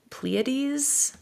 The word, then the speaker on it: Pleiades: I'm reading right now Amy Marie Turner's Voyage of the Pleiades, I want to say Mhm. it's pronounced.